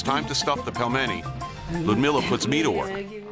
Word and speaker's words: Pelmeni: This dish again, how do you pronounce it? Pelmeni. Pelmeni.